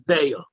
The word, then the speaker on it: Beitzah: Now, every time it says Beitzah, we're going to call it Beya, because even though it says the word Beitzah, the way the word is supposed to be pronounced in Aramaic is Beya.